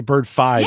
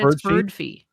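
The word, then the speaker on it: Birdfy: how they pronounce it I would say bird five because of Spotify you would think but they said bird Fe I asked them because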